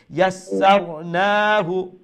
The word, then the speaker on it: يسرناه: যখন আপনি পড়বেন ইয়াস, প্রথম সির উচ্চারণ হলো, তখন এরপরে পড়বেন সার, অর্থাৎ দ্বিতীয় সিন ইয়াসার, তখন আপনার উভয় সিন উচ্চারণ হবে, বুঝতে পারছেন?